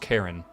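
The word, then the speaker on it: Charon: And then where's Pluto and Karin, which apparently is pronounced Karen.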